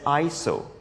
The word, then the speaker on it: ISO: You should simply change this value called the ISO value. And Miley on Disney, one of our most loyal subscribers, you are totally correct. It's pronounced as ISO, which in Greek stands for equal.